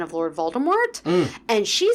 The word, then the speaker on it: Voldemort: weird and then also if it's Lord Voldemort you don't pronounce the T and the T is